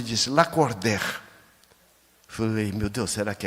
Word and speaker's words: Lacordaire: Ela disse: "Seu nome escreve Lacordir e pronuncia Lacorder."